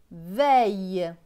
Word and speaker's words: veille: V avec E-I-L. E-I-L se prononce aïe. Donc V et aïe, veille.